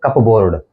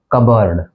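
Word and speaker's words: cupboard: गलत उच्चारित करते हैं यह है कपबोर्ड इसका हम उच्चारण करते हैं कपबोर्ड लेकिन इसका जो एक्चुअल प्रोनंसिएशन है वो है कबर्ड कबर्ड कबर्ड चौथा शब्द है ए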